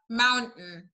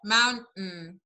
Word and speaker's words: mountain: هنا انا اسفه ال t اللي قبل ال n وهنا ال t في الاخر، زي بالظبط mountain زي certain، ال t جايه قبل ال n فتبقى الحته الاخيره mountain.